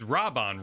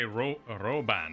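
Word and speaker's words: Raubahn: i will do my it's rob on right i've been corrected on my pronunciation but i in a realm were born japanese they made a very big deal of doing they're like robin so i have a tendency to say roban or rauban and like really like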